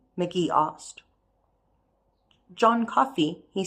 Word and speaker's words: Coffey: John Coffey, he said in a thick and tear-clotted voice. Coffee like the drink, only not spelled the same way.